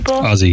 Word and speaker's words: Aussie: Aussie.